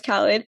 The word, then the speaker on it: Khalid: So for those of you who don't know, Khalid is actually pronounced Khalid, at least in Pakistan.